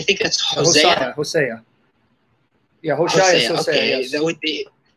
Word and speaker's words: Hosea: Yeah, Hosea. Okay, yes. That would be. How do you say it in English? Hosea or Hosea? I said Hosea. Some people say Hosea.